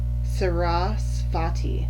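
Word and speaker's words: Saraswati: goddesses names I'm just a horrible horrible witch sarasvati it's rasa fatty okay so express yourself through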